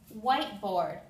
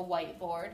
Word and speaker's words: whiteboard: two different sounds student whiteboard this is kind of like a white board that I'm using Okay so the I only makes a sound the E here is silent it makes no sound and the O in